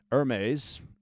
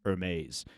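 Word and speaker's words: Hermès: from brands like Lululemon, Hermes. Notice, by the way, how I pronounced Hermes and not Hermes.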